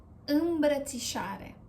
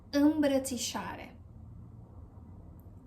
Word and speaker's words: Îmbrățișare: And we pronounce it bră, ți, șa, re. Îmbrățișare. Îmbrățișare.